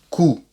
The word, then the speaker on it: cou: Q, je ferme complètement la bouche. Et cou, j'ouvre un petit peu la bouche.